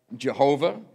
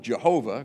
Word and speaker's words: Jehovah: But four consonants, and then it took the vowels from Adonai, which means Lord, stuck it in the consonants and come up with, a long time ago we called it Jehovah, called this name Jehovah,